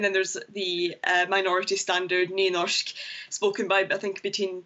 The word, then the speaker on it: Nynorsk: And they're translated from Norwegian, or should we call it, how do you pronounce it, Nynorsk? Nynorsk. Nynorsk.